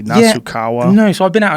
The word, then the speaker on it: Nasukawa: How do you pronounce his last name correctly? Nasukawa.